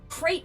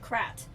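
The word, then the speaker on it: krayt: I can't say crate dragon and be afraid in any way other than irony. So I pronounce it Krat, which isn't necessarily a different word, but it doesn't invoke the image of boxes in my head. So I pronounce it Krat. This has been your PSA for why I'm mispronouncing a Star Wars word.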